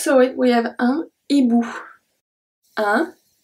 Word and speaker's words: hibou: This one, we just saw it, we have un hibou. Un hibou. So the H at the beginning, we don't pronounce it.